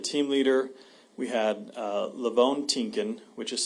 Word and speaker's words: Tienken: We had Lavone Tinkin, which is spelled Lavone, last name Tienken.